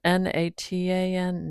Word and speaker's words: Natan: It's spelled N A T A N. Natan, but I think I'll just say Nathan because I'm going to get hung up on that.